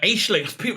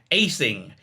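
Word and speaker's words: Aisling: Sarah Aishling. People have tried to explain to me how to pronounce the name. You miss out the L apparently. Aishing.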